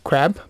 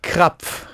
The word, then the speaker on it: Krapf: r a PF right when they read it in English it sounds like crab yeah right a crab uhhuh but when you pronounce it in German it's crap crap even for Germans